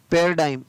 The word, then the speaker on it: paradigm: PARADIGM पैराडाइम, क्या पढ़ेंगे इसको? फेयरडाइम, तो यहाँ पर भी जी को उच्चारित नहीं किया गया।